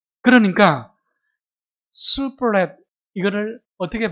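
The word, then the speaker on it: שיבולת: 시플렛. 이 히브리어 발음으로는 시플렛입니다. 시플렛. 예. 여러분 슈플렛 이게 조금 더 정확한 발음인데 이 슈플렛라는 것은요.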